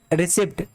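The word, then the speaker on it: receipt: लेते हैं कोई ठीक है अगले अधिक ए रिसिप्ट इसको करते हैं रिसिप्ट रिसीप्ट रिसीप्ट voucher silent है आप पढ़ोगे रिसिप्ट नतीजे गलत हो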